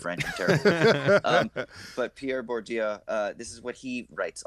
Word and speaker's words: Bourdieu: whatever you want to call him, anthropologist, Pierre Bourdieu, however you say his name is, Bourdieu. I like the first way you said speak it. French, I'm terrible. But Pierre Bourdieu, this is what he writes a lot about,